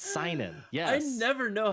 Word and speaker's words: seinen: It's seinen. Yes. I never know how to pronounce it.